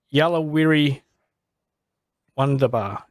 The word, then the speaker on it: Yuluwirri Wandabaa: powerful but you've got your new single yellow weary wonderbar is that correct is that how you pronounce it yeah yeah Giller language yeah yeah so about